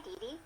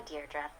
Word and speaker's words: Deirdre: sonnet or something hi didi Deirdre I know it's got that tricky second syllable but I figured it out by age two don't give up you'll get there sorry hi Deirdre hey now someone's getting